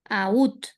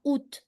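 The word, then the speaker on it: août: el invierno de cuándo Aut. Aut. Se pronuncia la T al último. Sí, en ese caso sí. Fíjate que tenés repoquitos sonidos. Decimos ut. Bien, es una excepción el mes de agosto. Ut.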